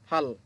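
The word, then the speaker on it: 팔: কিভাবে ফাল হলো? দেখেন এটা হচ্ছে ফিউপ। ফিউপ উপরে যেহেতু আছে প্রথম বর্ণ উচ্চারণ হবে ফ। সাথে হচ্ছে আ। ফ যোগ আ ফা। আর নিচে হচ্ছে রিউল। রিউল। রিউল নিচে বসার কারণে শেষ বর্ণ হবে ল।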